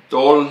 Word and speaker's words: Dol: which says this is the Dol Sok character that's going to be pronounced Dol. Interesting. You keep the L on the bottom.